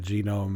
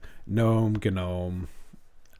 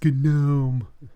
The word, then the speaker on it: GNOME: So I know you call it genome. It's gnome. I honestly don't care how you pronounce it, but some jackass, I'm assuming, in your comments is going to say it. So I'm just being the nice guy about it. And it's gnome. It's a hard G.